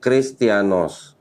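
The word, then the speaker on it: Χριστιανός: Perhatikan, yang huruf I ini perhatikan. Seperti huruf H, tapi pernah dihapus. Jadi I. Jadi tadi ini huruf eta. Setelah dihapus, dibacanya jadi huruf I.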